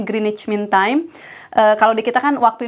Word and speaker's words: Greenwich: Grey Greenwich Mean Time Greenwich tapi dibacanya Greenwich Mean Time kalau dikatakan